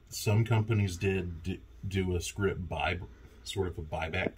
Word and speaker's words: scrip: I always have to tell my students it's script not script it's SC r i p so it's not